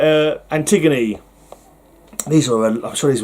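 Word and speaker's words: Antigone: Antiggony. Is there a So, you might be tempted to say Antiggon, but I'm pretty sure it's pronounced Antiggony.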